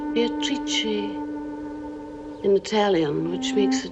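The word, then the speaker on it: Beatrice: It is pronounced Beatatrice in Italian which makes it very beautiful. Meeting Beatatrice on the Ponte Veio.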